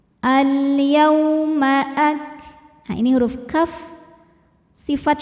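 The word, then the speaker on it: الْيَوْمَ: Yau ada harfulin atau huruf lin, sebab ada waw sukun yang sebelumnya baris fathah, maka dibacanya lembut. Al-yauma Nah, ini huruf kaf,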